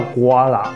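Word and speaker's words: gula: 那原文呢是叫 guala， G U L A 这样子的发音。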